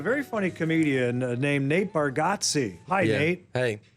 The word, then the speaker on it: Bargatze: said it yes I it's spelled with the g a t e z e and we spell like we say it like there's an e right in there so uh I completely